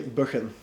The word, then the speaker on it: Buchan: And it's actually a Scottish name and over there they say Buchan. Buchan.